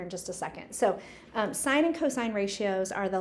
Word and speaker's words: sine: So it looks like sin and tan and cos, but this is actually pronounced sine, cosine, and tangent.